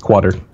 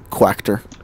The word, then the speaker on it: quarter: there that's true but she drops the the middle are people always give a about it quacked her mm-hmm for a long